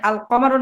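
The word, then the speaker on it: القمر: যেমন আল কমারু বলতে, যেমন আল কমারুর আলিফ এই কমটা কফ হওয়ার লামের পরে কফ হওয়ার কারণে আলিফ লামের লামটা উচ্চারিত হয়েছে, ঠিক আশ-শামসুর মধ্যে আশ-শামসু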